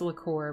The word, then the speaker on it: liqueur: Lichor. It's liqueur, but it's spelled like lich or.